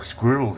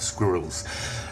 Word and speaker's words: squirrel: animals, and in particular squirrels everywhere. We don't have squirrels, and I always thought squirrel was 2 syllables, squirrel, but apparently it's not. Squirrel. Like forward we say.